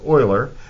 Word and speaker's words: Euler: a little bit like Euler but it's actually pronounced Euler the mathematician Euler so you know you're a